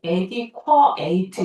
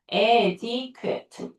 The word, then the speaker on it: adequate: 발음이 adequate 있다는 거 아니야? adequate.